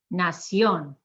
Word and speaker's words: nación: Admiración, nación.